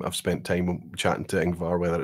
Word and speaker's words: Ingvar: I'm pronouncing that well, right? Ingvar is okay.